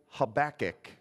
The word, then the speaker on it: Habakkuk: a lot of people don't know how to spell that let alone say it so say it all with me Habakkuk how about it good okay so he's another